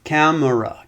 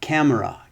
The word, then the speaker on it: camera: example in the words camera camera camera camera it's three that's three syllables but often the middle syllable will disappear because it is a